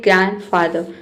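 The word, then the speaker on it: grandfather: बीच में जो आ रहा है एंड डी तो यहां पे आपको ध्यान देना है कि डी को हम नहीं पढ़ते हैं। ग्रैंडफादर।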